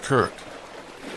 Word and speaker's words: Krk: The largest is called KRK, pronounced Kirk, and it's connected to the mainland by an impressive bridge that seems to float above the Azure water.